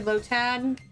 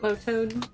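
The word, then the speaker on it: Lotad: I think it's actually low tad, not lowad.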